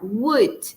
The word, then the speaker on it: would: Recuerden que no se pronuncia w, no. La L es invisible, no suena, muda. En esta palabra would would.